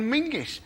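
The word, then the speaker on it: Menzies: In fact, you should pronounce it John Mingus.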